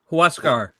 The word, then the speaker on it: Huascar: How do you say Brazaban's first name? Huascar. Huascar. Huascar. Huascar. Okay. Think of it like you're throwing a roundhouse kick.